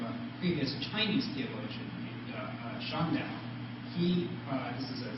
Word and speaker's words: Shandao: his cues from a previous Chinese theologian named Shandao. This is a Zendo in the Japanese pronunciation.